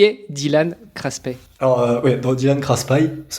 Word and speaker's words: Craspay: Alors Dylan Craspet, dans le sud on dit Craspet, mais t'es pas le premier.